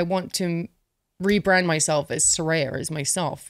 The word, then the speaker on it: Saraya: And I never told anyone how to pronounce it. So everyone, especially in America, you you call me, like Rya.